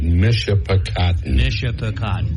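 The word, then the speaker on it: Michipicoten: Ken, the way that is pronounced is Mishapacotton.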